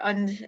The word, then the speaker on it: Ende: who you mentioned before, Michael Ende, or Und, as it would be pronounced in German.